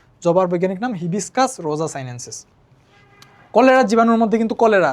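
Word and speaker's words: Hibiscus rosa-sinensis: তারপরে জবাকে আমরা উচ্চারণ করতে পারি হিবিস্কাস রোজা সাইনেন্সিস, তাই না?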